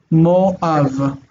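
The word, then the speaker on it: מואב: This is going to be pronounced Moav. Moav.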